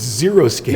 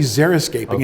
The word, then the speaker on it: xeriscaping: teach us about I think it's pronounced xeriscaping everyone thinks it's zero skiing that's what I thought but it's actually xeriscaping and it has to